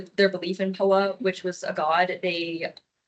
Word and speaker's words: Poa: And then Poa, pronounced Poa in Japanese, but it was taken from Hinduism,